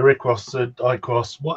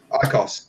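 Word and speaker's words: IQOS: But either way, in Bulgaria, ICOS, how are we pronouncing it? ICOS. That's how they pronounce it.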